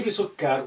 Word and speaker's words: بسكر: بسكر يعني بسكري. But you know, at the end, imaginary سكون is good. So أفضل الشاي, so you have your shadda there, بسكر rather than بسكري. That's the complete pronunciation. But at the end, you know, try to just stop with imaginary سكون.